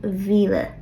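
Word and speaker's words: mhíle: And again, notice that after 1 through 6, the word for thousand, Mila, will be lenited to Vila.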